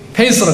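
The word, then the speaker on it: faith: 페이스로 그러죠. 페이스, 그죠? 페이스. 이 발음 잘 해야 됩니다. 이거 TH 발음 들이서라고.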